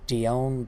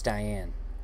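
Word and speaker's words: Dione: Miranda Maverick taking on Dion Barbosa maybe it's Diane Dion no we I pronounced it right the first time Di my own Barbosa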